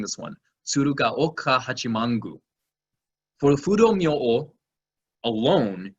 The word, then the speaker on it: Tsurugaoka Hachimangu: see at Daigoji, you can see it at Tsurugako, I always have trouble pronouncing this one, Tsurugaoka Hachimangu.